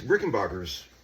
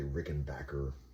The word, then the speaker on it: Rickenbacker: Some guys say Rickenbacker. But I like to say Rickenbacker because that's what I've always said. I don't care if it's wrong.